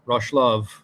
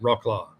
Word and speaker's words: Wrocław: And another side note before we move on, just because I learned it from the World of Football Podcast, it's pronounced Wrocław, not Rocklaw.